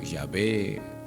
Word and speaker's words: Yahvé: Su pronunciación original no es tan cierta o es insegura o incierta, por lo que a menudo siempre se va a vocalizar como Yahvé o Jehová o se usa en el